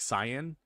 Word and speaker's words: cyan: I pronounce it as Sai, like in sci-fi, and then an as an ant like cyan.